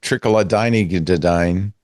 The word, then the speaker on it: Trochilidine: Trochilidine.